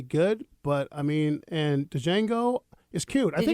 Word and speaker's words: Django: but I mean and Django is cute I think did you see it I think if Django came out another year I think it would do really well the D is silent yeah jangle jangle you